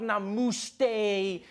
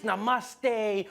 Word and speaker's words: namaste: on like dude it's not namuste it's namaste who messes up namaste